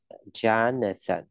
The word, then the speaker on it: Jonathan: Okay, cái âm này đọc là âm chờ, âm khó nhất ha. Thì các bạn luyện thì sẽ luyện dần thôi, nếu không khó. Jonathan, ok, sần, nâng sờ, nâng xe, thủ ra, sần. Lè lưỡi ra thổi hơi, Jonathan, ok.